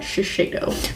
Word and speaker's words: Shiseido: All right, so the next products I got from Influencer are from Shiseido, I believe is how you pronounce that, Shiseido.